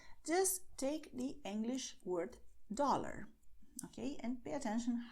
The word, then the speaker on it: dólar: In Portuguese, it will be pronounced very similarly. You would say dollar, dollar, okay?